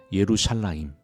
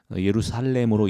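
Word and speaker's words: ירושלים: 이미 온 것입니다 그래서 완전한 복수형인 예루살라임 요드가 첨가된 예루살라임으로 발음해야 되고 그렇게 불러야 합니다 그래서 성경 텍스트에는 그 요오드가 빠진 불완전한 복수형으로 되어 있지만 그것을 모든 유대인들이 예루살렘으로 읽지 않고 예루살라임으로 읽습니다 네 하나님 나라는 예루살라임이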